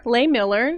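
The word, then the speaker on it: Lehmiller: By Justin Lay Miller.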